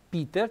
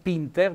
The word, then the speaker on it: peter: vita è la gallina il peter peter con l'accento tonico sulla eno peter non pinter mi raccomando che il pinter ha